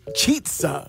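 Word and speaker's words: Chizza: And it's pronounced, it's a cheetza. So it rhymes with pizza.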